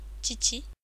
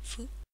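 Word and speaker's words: 父: Tout d'abord le père, Chichi. Ce kanji est également une clé. On remarque qu'il a une prononciation onyomi, fu.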